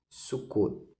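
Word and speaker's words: Sukkot: era chamado esta festa sucot se escreve sucote com temudo Mas você fala sucot sucot este é o nome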